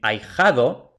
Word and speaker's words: ahijado: los ejemplos por ejemplo en ahijado podríamos pensar que como hay una H pues es a y ja2 no pero hemos dicho que la H como no se pronuncia es como si no estuviera escrita y por tanto como